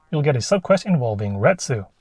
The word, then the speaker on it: Retsu: And then in Chapter 5, you'll get a subquest involving Retsu, which rhymes with the Japanese word ketsu.